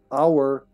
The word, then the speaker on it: hour: Because even though it's H is a consonant, you don't say hour. If you said hour, it would be a hour. But a howl, for instance. But hour is pronounced with ah. So that's why an.